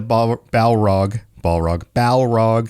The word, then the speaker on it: Balrog: And this scene is, I mean, say what you want about, hey, the Balrog, that's the proper pronunciation, isn't supposed to show up yet and all of that.